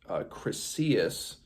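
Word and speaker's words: Chryseis: daughter of Chrysis and I believe her name is pronounced Cryus hostage uh which angers Chrisus obviously and he is a priest of Apollo.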